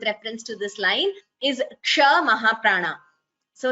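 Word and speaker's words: क्ष: It has k and sh. The k is an Alpaprana, whereas sh is a Mahaprana letter.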